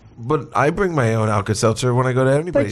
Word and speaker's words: Alka-Seltzer: too well Plus again you you mispronounced alka-seltzer the first time the self is it's alka-seltzer Sal Cassano or whatever